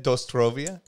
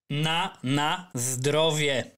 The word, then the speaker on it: na zdrowie: Wait, how do you say it? Dostrovie? Na zdrowie. Na zdrowie.